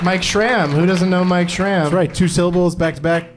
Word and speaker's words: Mike Schramm: Mike Schramm. Who doesn't know Mike Schramm? That's right. Two syllables, back to back.